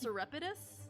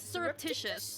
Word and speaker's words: surreptitious: seem our cous discussion I think pronounced cidus Sur no it's surreptitious that's what it is surreptitious oh my God I